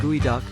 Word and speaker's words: geoduck: up to 3 lb its curious name pronounced gooey duck comes from a litti